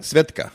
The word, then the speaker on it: Svedka: Am I pronouncing it correctly? Svedka.